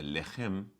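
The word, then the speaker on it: לחם: Quando nós vemos a palavra lechem em hebraico, lechem, lamet, het, mem sofit, ou lechem, a pronúncia é lechem.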